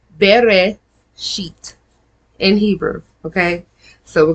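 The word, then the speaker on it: Bereshit: Ber sheet. B E R E S H I T. But it's pronounced Bereit in Hebrew.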